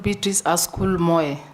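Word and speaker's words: Beatrice Askul Moe: is not very good out there you are betric asul Moy yes Mr Speaker have I pronounced your name correctly yeah it's called be asol mo mo yes correct welcome once again you will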